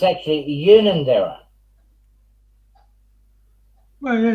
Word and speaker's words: Unanderra: But yeah, it's actually Unanderra. Well, yeah, it's just a matter of a hard or a soft U, un or un.